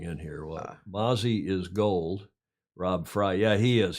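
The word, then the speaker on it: Gould: kicker for the 49ers spelled ghoul but he pronounces It Go sorry I missed that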